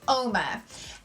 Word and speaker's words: Uoma: It is pronounced Uoma. And Uoma means beautiful in the Igbo language.